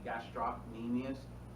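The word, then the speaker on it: gastrocnemius: called it this um the sea is silent all right so um I mean you can do it for yourself so you don't forget the see gastrus people look at you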